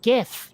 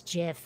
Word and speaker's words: GIF: and go, oh yeah, that's GIF. No, it's not. It's GIF, and the creator of the format said so.